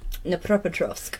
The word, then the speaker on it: Dnipropetrovsk: How do you say it again? Dnipropetrovsk. Dnipropetrovsk. But look how it's spelled. It's a silent D.